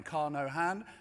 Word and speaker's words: Carnohan: He told me to pronounce his name Carnohan because it's like driving a car with no hands.